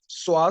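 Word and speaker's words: psoas: हुए ना रोसि साइन स्वा साइन य प साइलेंट ठीक स्वास साइन और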